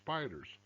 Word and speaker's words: SPDRs: depository receipts spdrs and it's pronounced spiders to slay the spider